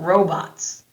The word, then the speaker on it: robots: What do you know about robots? This time I pronounced it with the long O sound in the first syllable.